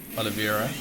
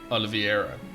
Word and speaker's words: Oliveira: for some reason I I read it as aloe vera like I.E not e I don't know no idea like I don't even know anyone called Oliveira I don't know so it's Oliveira there we go my